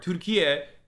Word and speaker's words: Türkiye: Türkiye is how you say turkey in Turkish, and it has nothing to do with the actual animal turkey at all.